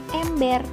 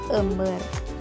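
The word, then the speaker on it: embér: Karena dibacanya ember, bukan ember.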